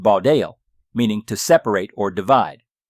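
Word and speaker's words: בָּדַל: H stands for Hebrew, pronounced Baudel, meaning to separate or divide.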